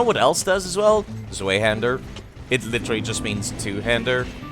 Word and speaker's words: Zweihander: It's pronounced double V. Zweihander. Zweihander.